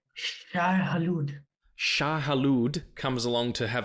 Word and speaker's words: Shai-Hulud: How do you pronounce the sandworm's name? Oh, I know this. I know this. It's their god. It's like, it's Shai-Hulud.